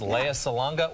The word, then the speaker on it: Lea Salonga: get stuck in right now her name is Leia Salonga she was also in Miss Saigon she's been in a lot of things Leia salanga welcome to good day thank you for pronouncing my name correctly by the way I